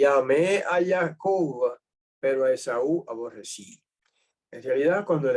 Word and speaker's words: Esaú: que debería corregirlo ahora ese nombre se dice Esaú no es aún y se escribe así